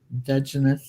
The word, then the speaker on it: Dungeness: Dungeness, yeah. Dungeness, is that how you pronounce that?